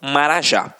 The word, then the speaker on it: marajá: exemplificação observem aqui ó oxítonas a última sílaba é a tônica então exemplo urubu motel marajá reparem que na hora da pronúncia de forma mais aguçada você vai perceber que realmente a pronúncia da última sílaba ficará mais forte aqui ó uru o